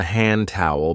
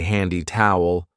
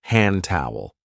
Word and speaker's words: hand towel: This is called a hand towel because we use it to dry our hands. And be careful of the pronunciation. We don't usually say handy towel. We link it and we say hand towel.